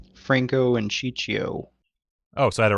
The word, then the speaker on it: Ciccio: Franco and Ciccio.